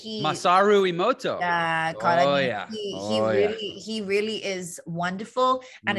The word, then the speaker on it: Emoto: I'm going to say his name wrong, Himoto, Masaru Emoto.